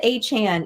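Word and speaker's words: Achane: Chan I don't know he said a Chan even though with the E makes a chain which yeah rolls off the tongue better but whatever it's not my name yeah because it rhymes with the a part yeah all right but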